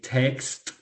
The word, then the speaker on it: text: Por ejemplo, en lugar de decir text, con T al final, text, decimos text, ¿cierto? ¿Esto por qué?